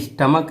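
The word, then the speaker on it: stomach: ऐसे स्टमक है बच्चों, देखिए का इसका उच्चारण आ रहा है, इसलिए इसमें हम एस लगाएंगे।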